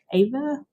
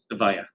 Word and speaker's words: Avaya: the recommended bidder, New Era Technologies for the AVA IP office upgrade? Avaya. Avaya, so butchered that, Good but thank try.